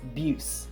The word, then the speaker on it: Buce: then everywhere else it's Buse like rhymes with juice beautiful Andra so that's